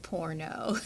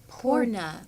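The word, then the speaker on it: Purna: kind of yoga teacher poorna yoga sounds like like porno no it's not porno spell that it is spelled p-u-r-n-a porna porna porna which means whole in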